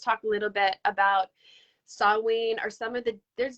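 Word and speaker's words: Samhain: say some paint but saw wayne i believe is a proper pronunciation for it and um i really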